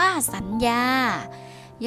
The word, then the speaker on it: สัญญา: ใน มาตรา ก้น ค่า คำ ว่า สัญญา ยอ ผู้ หญิง เป็น ตัว สะกด ค่า แต่ อยู่ ใน มาตรา กน หรือ ว่า ออก เสียง นอ หนู เช่น กัน ค่ะ คำ ว่า